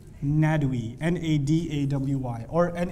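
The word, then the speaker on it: Nadwi: write that name down Akram not we akr am Akram Ned away that's how you say it in Syria Ned we na da WI or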